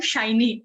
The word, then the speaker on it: Shiny: I'm Shiny, actually. Shiny, okay, please. So I always get confused because I have a couple of friends. The spelling is the same, but we pronounce it as Shini.